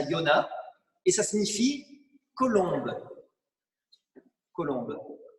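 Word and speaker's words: יונה: si vous saviez mais en hébreu on prononce ça Yona et ça signifie colombe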